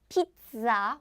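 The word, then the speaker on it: 피자: pizza the food food in Korean is not P pizza or Z there's no z sound so in Korean pronunciation is pizza pizza or party party party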